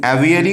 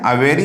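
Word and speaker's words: aviary: अवेरी, एवियरी कुछ लोग बोल देते हैं। अवेरी इसका प्रोनाउंसिएशन होता है पक्षीशाला, जहां पर पक्षियों को रखा जाता है।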